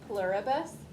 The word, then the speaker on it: pluribus: looks like e pluribus there's no l there's only one l after the p pluribus human you switch the